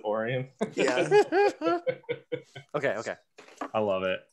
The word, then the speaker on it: Orion: orion basically oh okay like orion orion but michiganders we pronounce it orion okay okay i love